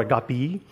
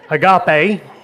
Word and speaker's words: agape: so we're going to talk about agape today or a guppy but we're not going to worry about the pronunciations why because we're from America and we're just gonna say I got pay and that's just fine don't worry about trying